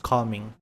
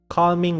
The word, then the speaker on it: calming: His voice is calming. Calming with an L, chat. Calming with an L. I have to make sure to pronounce the L, otherwise.